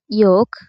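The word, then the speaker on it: yolk: তো বেশিরভাগ শব্দেই এল এর উচ্চারণ হয় না যদি এল এর পরে কে থাকে, এম থাকে এবং এফ থাকে।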